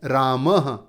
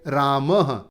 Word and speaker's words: रामः: और इसका उच्चारण लगभग ह के जैसा होता है, जैसे अंत में दिया है रामः। तो ये जो विसर्ग हैं इन्हें ह के जैसे बोलेंगे। क्या बोलेंगे? रामः।